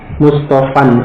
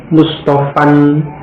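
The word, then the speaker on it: مصطفًى: Mustafan, alif yang akhir di situ dhammah pada asalnya sebagai tanda rafa', tapi ditakdirkan tidak tampak. Dan dalam ucapan tadi alifnya tidak diucapkan Mustafan, ya, yang diucapkan hanya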